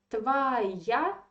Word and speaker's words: твоя: So the stress is in the last syllable, ya. So this or that I underlined to attract your attention, it is in weak, unstressed position. So you say твоя.